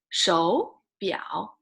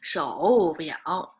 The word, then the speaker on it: 手表: changed to when you read it changed to the second tone right so it's 手表 okay 手表 not 手表 okay 手表 this one